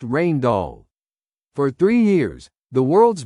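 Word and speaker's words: Rijndael: Two brilliant cryptographers from Belgium, Vincent Ryman and Joan Damon, submitted an algorithm they called Rain Doll, pronounced Rain Doll.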